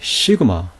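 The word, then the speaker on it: σίγμα: 스라고 발음되니 시그마, 무성음이고요. 숫자 값은 200이에요. 예, 이 시그마 역시 무성음이에요. 스 해보세요. 목젖이 울리지 않죠?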